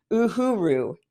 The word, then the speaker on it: Uhuru: Uhuru I'm making sure I'm trying to pronounce this correctly Uhuru because this is how this is how we say that movement how long have